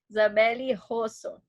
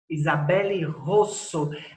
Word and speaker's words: Isabele Rosso: É Isabelle Rosso, Russo, Rosso? Qual é a É, pronúncia do seu nome? Isabelle Rosso. Isabelle Rosso.